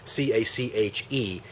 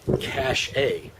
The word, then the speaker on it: cache: They use the word cache, which is C-A-C-H-E, and they pronounce it cache, which is 100% completely, no question about it, incorrect. It just is. The word C-A-C-H-E is pronounced cache.